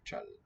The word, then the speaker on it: 짧: But in this verb form, we're going to drop out the B sound. We're going to say chal, chal for the syllable.